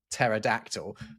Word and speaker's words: pterodactyl: That P is not intrinsically silent. It's just, you know, in English, we don't pronounce them when we see them like that, right? When we have a word that begins with PT like that, we just don't pronounce it because the rules of English phono tactics make it, we feel weird to say.